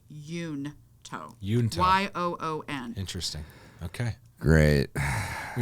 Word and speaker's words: Junto: Literally says that Benjamin Franklin pronounced it Yunto.